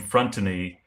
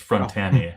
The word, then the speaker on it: Frontani: Now, Yolanda Frontani, who owns 330 Center Street, and I made the mistake. I pronounced her name Frontani in the director's commentary. It's Frontani.